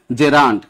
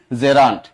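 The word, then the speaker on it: gerund: আপনারা উচ্চারণ করেন জিরান্ড, বা এটা আদা, জিরা, পেঁয়াজ এগুলি না, অনেকে বলেন এভাবে জিরান্ড, এটা জিরান্ড না, উচ্চারণ কি জেরান্ড।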